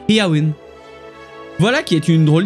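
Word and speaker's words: Éowyn: amis des chevaux et ça se prononcerait en fait pas erwin comme on l'entend mais plutôt bien ir une parce que selon les notes de prononciation et or se prononce et à mai avec le à faible et le y se prononcerait comme lui très m'as allemand où le eu en sait donc ce qui ferait et à win voilà qui est une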